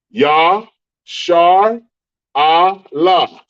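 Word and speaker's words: ישראל: Shar, Yah, Shar, Allah. Allah is going to be each one by themselves. La, because they're pronounced separately.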